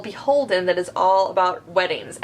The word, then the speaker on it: Beholden: Start off just as a little clarifier about Beholden. It is spelled BHLDN, which confuses a lot of people. It's Beholden without the vowels.